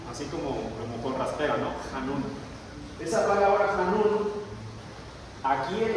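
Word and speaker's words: חַנּוּן: palabra ya es ahí dice canú, pero se pronuncia han, así como como conraspera, ¿no? Hanun.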